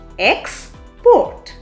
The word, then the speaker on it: export: Export. Finally, here, the last syllable is stressed. Export.